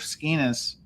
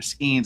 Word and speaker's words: Skenes: held it out, so gave Skenes, or Skenes, I think is how it's pronounced, his first loss.